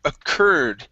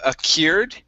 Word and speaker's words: occurred: next up we have the word occurred instead of a cured okay it's occur occurred accord all right very